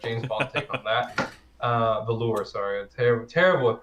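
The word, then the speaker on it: Valour: No, you said it right the first time. Oh, really? It's Valor. It's Valor. Oh, yeah. Valor. Like Valorant. Okay. Oh, like yeah.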